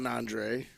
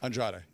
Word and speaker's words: Andrade: The match with Andre, right? Did I say it right that time? Andrade.